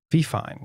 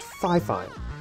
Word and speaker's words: FIFINE: My only criticism would be the name Fifine. It's such a doesn't roll off the tongue very well. Yeah. Turns out it's actually pronounced Fifine.